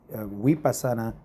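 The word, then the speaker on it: Vipassana: A N A vasana or vasana it is pronounced in we pasana in India and also the avat course and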